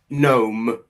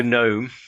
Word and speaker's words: gnome: Gnome with the silent G. Yeah. Oh, yeah. Gnome.